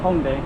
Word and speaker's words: Hongdae: Hongdae. In Korean. Those are two syllables. Hong and Dae.